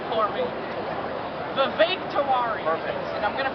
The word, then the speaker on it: Vivek: Vivek. Rhymes with steak.